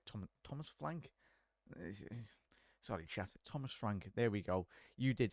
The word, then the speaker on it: Thomas Frank: go with a 1 nil for the brilliant Thomas flank H th Thomas flank sorry ch Thomas Frank there we go you did say it right